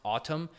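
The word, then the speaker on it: Atem: It's pronounced Atom, but it's spelled Atom, A T E M.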